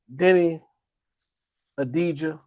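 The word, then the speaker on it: Deni Avdija: Uh Denny Adijah, now I know the proper way to say his name. The V is silent.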